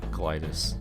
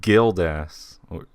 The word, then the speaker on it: Gildas: over it now, and I wasn't even right to begin with, because it's Gildas. It's Gildas. Not Glida.